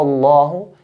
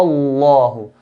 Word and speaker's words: الله: So we pronounce, because of the fatha, we pronounce lam, the word Allah, in a heavy manner. Huwa Allahu, qul huwa Allahu, and not qul huwa Allahu, which is very common to hear.